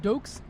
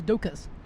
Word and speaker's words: Doekes: of mine, right, whose name I've been wrongly pronouncing for many years. I've called him Martijn Doekes, but that's not his name. The real way to pronounce his name is Martijn, and I think it's not Doekes, but it's Doekes.